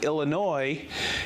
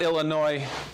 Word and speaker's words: Illinois: i found out there's the s on illinois is not pronounced with an s it's not illinois are you sure no